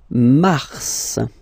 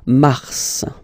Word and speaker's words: mars: So in a way, it's an exception because normally final S is not pronounced in French, okay? We've got some exceptions, and this one is one of them. So mars, pronounce the final S, mars, mars, okay?